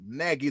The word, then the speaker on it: Nagy: Shout out to Jim Hansen, Benjamin Miller, Charles Nagy. The G is silent.